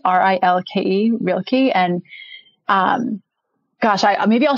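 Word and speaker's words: Rilke: never know how to say the poet's name real key r-i-l-k-e real key and um gosh maybe i'll share it share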